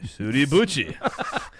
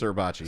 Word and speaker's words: Suribachi: It's pronounced Suribuchi. Suribuchi. But we're American, so it's Suribachi.